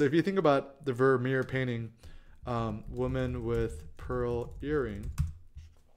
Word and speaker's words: Vermeer: And the name rhymes with Mermier. Yeah, so if you think about the Vermeer painting, woman with pearl earring.